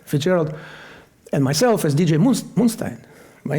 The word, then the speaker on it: Moonstein: So Moonstein was not taken. And also kind of rhymes with Einstein, okay?